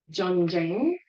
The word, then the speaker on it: Zhang: This is actually a very powerful Qigong movement called Zhang. It's spelled with a Z or a Z, but it's pronounced Zhang.